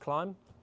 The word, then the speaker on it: Klim: Some people might refer to it as Klim. Klim or Oh, Klim, it is milk. pronounced Klim. If you say it backwards.